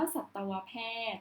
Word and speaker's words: สัตวแพทย์: ก็ เช่น เดียว กัน แต่ ทำไม เรา จึง อ่าน ว่า สัตวแพทย์ นะ คะ คือ คือ คำ